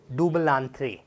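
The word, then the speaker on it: double entendre: That is डुबलांथ्रे।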